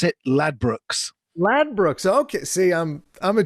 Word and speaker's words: Ladbrokes: Ladbrokes, and our New Jersey and New York people may not know what that is, but Ladbrokes is a British betting and gambling company, and we pronounce it Ladbrokes.